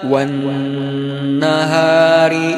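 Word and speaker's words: والنهار: Perhatikan ayat 3. Wan nun yang bertasydid itu tidak boleh terburu-buru kita membacanya. Tidak. Wan nahari idza jallaha, wan nahari idza jallaha. Enggak, tapi kita harus menahannya dulu. Wan nahari idza jallaha, karena dia gunnah ya.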